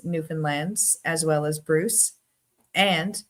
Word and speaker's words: Newfoundland: But I mean, people from away say Newfoundland, but Newfoundland, Newfies is what they call us. Where we say Newfoundland. Dwayne's right. It's Fin. It's almost like a new Finland, but different.